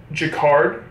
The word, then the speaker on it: jacquard: so the next one is the pink it's pronounced jacquard so ultra jacquard pullover I have this in black and honestly